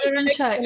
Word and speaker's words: Olorunsaiye: Olorunsaiye, did I pronounce it correctly? Sorry, can you hear Very me? close. Very close. It's a she sound, even though there's no H. Oh, Olorunsaiye. Yes, Olorunsaiye.